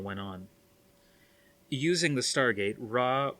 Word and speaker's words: Ra: on using the stargate ra or ryu as they pronounced it brought thousands of people